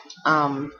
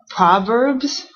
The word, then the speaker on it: Proverbs: now we looking at proverbs proverbs proverbs prbs so this is an o and it looks like proverbs but actually you pronounce it almost like an a so prbs proverbs and then this is